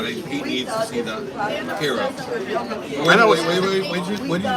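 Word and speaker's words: Hiro: because it's H or but it's pronounced hero and then we're saying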